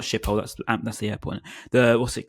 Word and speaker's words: Schiphol: It's honestly the first sighting you get coming from Schiphol, not Schiphol, that's the airport. What's it called? I can't pronounce the name of the station.